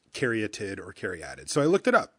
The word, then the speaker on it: caryatid: I looked it up online because I got to be in the booth and I want to make sure I'm saying things right. And I did the little thing where you can play the sound, and it said Caryatid. And I'm like, okay, well, that must be how you say it. So when I started commentating, that's how I said it.